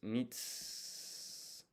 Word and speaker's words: mitsukeru: And then to find is mitsukeru. This U here is silent. So you don't pronounce it for some reason. This is mi. This is tsu. So mits. And then we need ke.